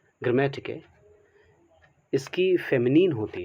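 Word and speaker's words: γραμματική: ग्रामेटिके, बहुत लोग इसे टिकने भी पढ़ते हैं, ग्रामेटिक ने, ओके।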